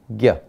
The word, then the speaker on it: ज्ञ: पर लिख रहे हैं, और ये ज्ञ बना है, ज के साथ जुड़ा हुआ है एक अनुनासिक है इय, और इनके मिलन से हमें एक नया वर्ण मिलता है, ये वर्ण है ज्ञ।